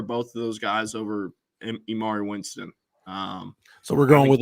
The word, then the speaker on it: Amari: he said his name and he said Amari. So that's what I'm going with now. Okay. But I've had people tell me both up until then. So now I'm rolling with Amari. Gotcha. Okay. Spelled like Emory though, so I don't know. You never know.